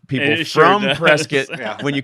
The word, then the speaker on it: Prescott: But everyone here calls it Prescott. Yeah, for sure. Like biscuit.